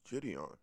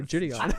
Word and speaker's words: Gideon: It's Gideon. John's like, it's simple. It says right there, Gideon.